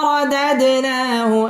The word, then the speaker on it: رددناه: সুম্মা র পুর হবে রদাদ দাল কলকলার হরফ ধাক্কা দিয়ে পড়তে হবে রদাদ না মধ্যে তাবাই এক